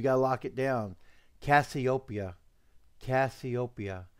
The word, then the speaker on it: Cassiopeia: please you're almost there you almost got sweetheart copia let roll off your tongue copia I mean am I pronouncing it wrong no G sometimes you